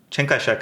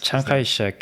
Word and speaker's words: Chiang Kai-shek: Is because, so the founder of Taiwan, Chiang Kai-shek, I'm probably butchering his name, but anyways. In Korean or in American? Because Chiang Kai-shek is right. That's how we pronounce Chiang Kai-shek is the American pronunciation, yes, right?